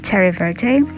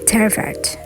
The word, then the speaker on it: Terre Verte: keep calling this as Terre Verte, but it seems the correct, or at least the French pronunciation for this color name is Terre Verte.